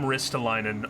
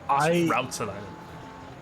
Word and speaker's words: Rootsalainen: say it properly because I would call him Ristalainen all the time, and he's like, "That's not my name," and I apologized. So I looked it up. Rootsalainen.